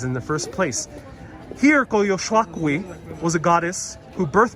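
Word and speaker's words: Coyolxauhqui: Koyoshakwi. That's how you say it. Koyoshakwi.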